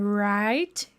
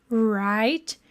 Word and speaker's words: write: Aqui é como se a gente nem pronunciasse direito o W, né?